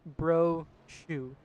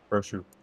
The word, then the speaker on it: Brochu: from last week sam i did pronounce his last name ron so i'll make a public apology it is bro shu brochu yep you sent me